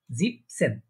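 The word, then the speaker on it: siebzehn: এখানে আমাদের বলার সুবিধার্থে, এটা প্রনাউন্সিয়েশন সুবিধার্থে এটা হয়ে যাবে জিপ, জিপ সেন, জিবেন সেন মানে অনেকটা দোনোটাই মানে শেষে এন এন হয়ে যাচ্ছে।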